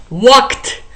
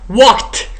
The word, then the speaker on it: walked: After the voiceless sounds we say t t.